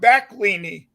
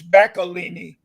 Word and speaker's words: Backlinie: pronounce her last name because I was saying well it looks like back lini she said no yes it's balini y yeah Miss a